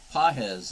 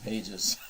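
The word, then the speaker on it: Pagés: Pages as a strike pz is how you say his name I'm sorry it's a g not a j so I didn't know it was pz I've been calling him Pages pz second Pitch high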